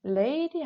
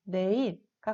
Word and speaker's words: 내일: 자, 두 번째, 레일이 아니라 그럼 우리 어떻게 발음하죠? 그쵸. 내일과 같이 니은으로 발음하고 쓸 때에도 내일과 같이 쓰게 됩니다.